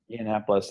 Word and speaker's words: Yiannopoulos: Milo, any of you guys pronounce his last name? Yiannopoulos, yeah.